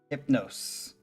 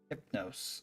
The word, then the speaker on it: Hypno5e: um the dreamer and his dream oh it's pronounced hypnos hypnos okay the I think yeah I'm pretty sure